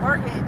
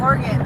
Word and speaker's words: Oregon: I'm like no Oregon. They're like Oregon. Yeah, I know. I heard all that. I don't know. That's organ just almost like a body organ body part.